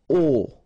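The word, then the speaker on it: aux: AIX okay and then phonetically you produce it or you pronounce it o okay so here o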